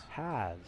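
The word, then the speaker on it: Hasz: Is it Hayes or Haas? Hayes? Haas? Has. Yes. H-A-S-Z, right? Yes, the Has. Z is silent.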